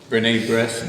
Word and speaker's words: B'nai B'rith: Monsignor Sewell was giving a luncheon talk to the Jewish group, B'nai B'rith, am I pronouncing that right?